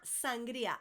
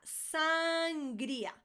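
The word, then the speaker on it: sangría: Another one for the restaurants, those wine lovers, sangria. Sangria. I can't think of anything worse. You guys know I don't drink, but sangria is just no, nunca me ha gustado, okay? So, la sangria, sangria, sangria.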